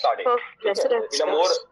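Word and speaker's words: Sadé: We pronounce it as Sade.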